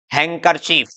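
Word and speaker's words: handkerchief: क्या, हैंडसम, है ना, ये वेडनेसडे, ये सैंडविच, तो ये सब गलत है। सही क्या है, इसको बोलेंगे हम क्या, हैंडसम, वेंसडे, सैंडविच, सैंड नहीं सैंडविच, हैंकरचीफ। ओके, अब आगे बढ़ते हैं हम, ई साइलेंट रूल की तरफ।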